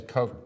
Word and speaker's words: Koch: but his name spelled the same day and koch koch is a coke brothers of course I mean the Koch brothers